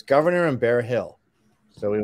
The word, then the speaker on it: Gouverneur: There's Governor, which is spelled French, Gouverneur.